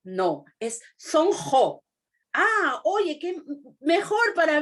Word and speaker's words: Sonqo: Le digo, es que la palabra quechua se pronuncia como G, la Q. Entonces, ¿cómo es? ¿No es Sonco? No, es Sonjo.